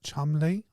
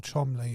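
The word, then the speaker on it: Cholmondeley: SEL shadon or something I think it was someone pronounced it like Chumley or something like that why not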